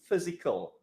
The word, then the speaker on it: physical: Okay, the pronunciation for this word is physical. It's an adjective. So the PH is the same as the F sound, physical.